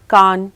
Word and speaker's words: Cannes: कैन एक ऐसा festival है जहां पर अगर आप कांस बोल दोगे तो आपको सूट में भी टूरिस्ट समझा जाएगा।